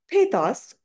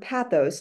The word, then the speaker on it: pathos: this presentation and then we have posos or pathos depending on if you're hearing it pronounced iner American English or British English and this is where